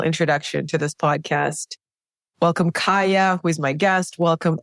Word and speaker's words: Kaija: And the first time I met you, I actually called you Ka because your name is spelled with a J. And I felt it was such a beautiful way to spell Kaya that I wanted to accentuate it by mispronouncing your name.